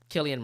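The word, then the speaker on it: Cillian: joke works is that some people pronounce it Killian others pronounce it San yeah yeah but it is Killian Murphy right am I making that name right it is Killian Murphy right K Murphy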